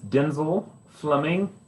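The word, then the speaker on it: Densel Fleming: say and spell your name my name is denzel fleming that's d e n s e l fleming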